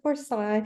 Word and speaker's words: Forseille: your last name because for sale is a French name and I would pronounce it for Psy because I lived in Quebec for a while but